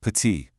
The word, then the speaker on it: petite: Let's take the word for small petite. You see, it ends with a T, but we don't say patit.